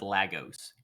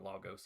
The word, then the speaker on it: Lagos: Because the name comes from like a Portuguese word for lakes, but that's not how anybody that lives in the city actually pronounces it.